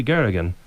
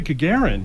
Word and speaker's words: Gagarin: aboard the spacecraft lost dog one Soviet Cosmonaut Yuri garrigan becomes the first human being to travel into space that's Yuri Gagarin very good good Garen I can't pronounce things